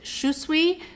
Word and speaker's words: Shusui: a little video so she pronounced it shusui so since she's the designer I'm going with that so I am hoping